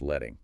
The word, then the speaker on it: leading: Leading, pronounced letting is a vertical space between lines of text measured baseline to baseline.